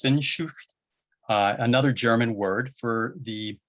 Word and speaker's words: Sehnsucht: This one's going to be really hard to pronounce, but I think it's Sehnsucht, another German word for the inconsolable longing for something we don't even know what it is.